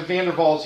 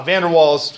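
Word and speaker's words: van der Waals: use something like the vandals equation vander's equation okay pronounce it right it's probably funerals right V is pronounced like a f w is pronounced like a V right um the uh Vander wals we say in English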